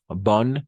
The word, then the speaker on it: bonne: Bon, bon, bonne, bonne. O fermé. Bon es bon en nasal. Bon, fermé. O ouverte. Bonne. Es como una O abierta.